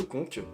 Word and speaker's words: Conca: de la ville de Conques, qui s'écrit Conca, jusqu'à la ville de Calenzane, qui s'écrit Calenzana. Mais bon les Corses ils prononcent pas les A à la fin des villes ni des O à la fin des mots, donc voilà, j'essaie de